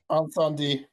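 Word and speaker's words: Incendies: How do you pronounce it in French, Gavin? Anandi.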